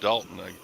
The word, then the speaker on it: Doulton: Royal Dalton, Doulton, but it's Mhm. pronounced Dalton, I think.